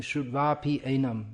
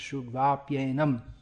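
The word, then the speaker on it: śrutvāpyenam: You're saying Shudvapyenam. It should be pronounced Shudvapyenam.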